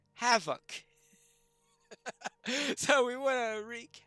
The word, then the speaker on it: Hafoc: That, of course, between two vowels, an F is pronounced as a V in Old English. So therefore, Hafoc.